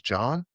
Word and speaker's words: Jean: Yeah, I was talking to him because his name is John, right? But it's spelled like Jean, like it's like Jean-Claude Van Damme.